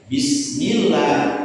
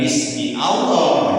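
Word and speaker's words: بسم الله: Jadi lafaz Allah itu alif lamnya bisa jadi hilang kalau diawali dengan katanya bismillah bukan bismi Allah.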